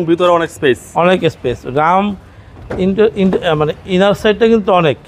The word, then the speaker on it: Raum: আছে আচ্ছা কেউ বলে রাম কেউ বলে রম আসলে কি হবে রম রম হবে মেবি এটা আসলে কি এখন ইউ উচ্চারণ মানে এর মত হয় সো রমও বলতে পারেন রমও বলতে পারেন রমই হবে আচ্ছা রম বললাম যেহেতু